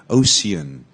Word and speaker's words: ocean: got the fact that it's a soft c yeah because it's got the E afterwards then you would say ocean ocean many people say